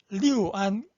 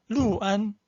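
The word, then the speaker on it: 六安: 보통 원리대로 하면 리우안 과편이죠. 리우안이잖아요. 근데 여기서는 루안이라고 그래요. 이건 제가 이번에 처음 봤습니다. 6을 루로 발음하는 거. 아마 그 안후이성 거기서 나온 사투리 같기도 하고 이때는 읽을 때 루안 과편이에요.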